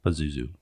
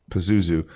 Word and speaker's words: Pazuzu: pazu or piz how do how do we pronounce it Pazuzu Pazuzu um at first I was kind of intrigued